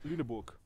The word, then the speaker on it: Lüneburg: us up against lunber I believe you pronounce this as lunor lunor and um I think